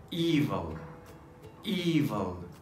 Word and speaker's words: evil: But the other one, it is pronounced with a long vowel E. That's why it is pronounced as evil, evil.